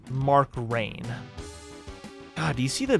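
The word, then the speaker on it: Rein: The original business guy, Mark Rhine, I think it's pronounced Mark Rain.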